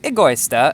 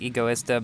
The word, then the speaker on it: Egoista: review about this car the Agusta as the Italians pronounce it I think the American pronunciation is more like egoist but I don't know anyways this car however